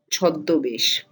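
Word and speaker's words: ছদ্মবেশ: So the v changes to b. So chadma vesh to choddo besh.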